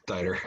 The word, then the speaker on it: Dieter: I thought it was Dieter, but it's Dieter.